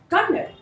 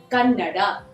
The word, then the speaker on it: Kannada: It's not Kannada, it is Kannada.